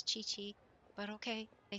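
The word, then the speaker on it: Qiqi: Anyway, it's it's chi-chi. It really is chi-chi. The Q is always that ch sound.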